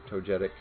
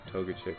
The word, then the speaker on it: Togetic: said uh saroh the toga Chic or to Togetic I should say I always called it togga Chic when it was younger and I realized there's